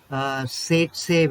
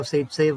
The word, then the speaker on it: Zaitsev: That rule is known as, it is ZAITSEV. It can be pronounced in different ways here.